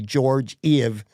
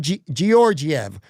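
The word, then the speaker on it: Georgiev: He's always going to be George EV. He's George EV to me. Although it's Gorg Gorgiev.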